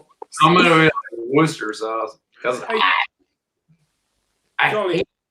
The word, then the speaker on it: Worcester: Worcester rhymes with rooster.